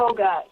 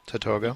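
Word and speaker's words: Tatogga: Tad Tadogga or how do you pronounce the project? Tatoga. Tatoga. Yeah. Tatoga.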